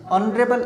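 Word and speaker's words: honourable: ही इज नॉट ऑनरेबल मैन, ऑनरेबल जो एच होता है ये साइलेंट होता है, और साइलेंट होगा तो जो ध्वनि है वो किसकी आएगी, ओ की आएगी, और ओ से पहले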